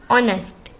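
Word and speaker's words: honest: ऑनेस्ट, एच को हम नहीं पढ़ते।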